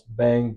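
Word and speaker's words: Beyng: truth of being as what he calls bang, B-E-Y-N-G, bang rather than bing, which in German it's sang versus sign.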